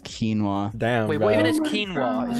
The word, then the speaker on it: quinoa: I'm like yeah you're talking about this it's pronounced quinoa damn what is quinoa is it like a